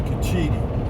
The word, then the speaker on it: Cochiti: cochita that's what they i asked a lady how they pronounced it one time she says kachidi chi so kachidi it is one thing good about